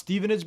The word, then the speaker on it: Stevenage: Pronounced Stevenage, by the way.